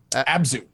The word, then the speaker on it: Abzu: I think you've played both Batman and is it Abzu? Abzu. Abzu. Yes. Okay. I didn't know. And if I was played pronouncing Journey it.